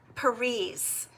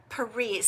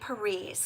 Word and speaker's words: Peres: even know if that's possible Oh Renee okay Peres perise thank you for correcting me I really do